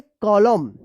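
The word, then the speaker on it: column: बताइए इसको क्या पढ़ेंगे एम के बाद एन है यानी एन से पहले एम है तो क्या होगा कि यहां पे एन साइलेंट रहेगा। तो क्या पढ़ेंगे? कॉलम।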